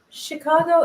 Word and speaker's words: Chicago: that i'm winning now chicago is sort of ch but you pronounce it like sh upstate new york what